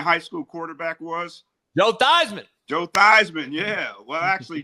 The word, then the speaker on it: Theismann: So, he changed his name from Theman to Thyman to rhyme with Heisman.